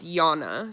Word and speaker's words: Jana: Okay, It's Jana with a J like banana. Okay, so you're Jana. We have a friend that spells her name the same, and it's pronounced Yana.